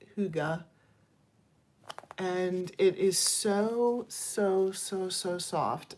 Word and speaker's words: Hygge: It's called Hygge, at least that's how they say it's pronounced, Hygge.